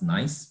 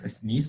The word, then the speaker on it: Nice: knee classification uh cycle my thought is nice but uh yeah it's pronounced sneeze for you know the part of france but she didn't i